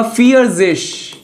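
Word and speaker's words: vierzig: fear fear आपका फियर्जेश क्या बोलते हैं फियरिश तो 41 को क्या बोलेंगे 40 + 1 यानी आइन पहले बाद वाला बोलते हैं आइन उन फियर्जेश आइनउंद फियर्जेश 42 को क्या बोलेंगे जय उनफियश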